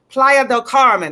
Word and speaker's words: Playa del Carmen: Checking in with us from Playa del Carmen.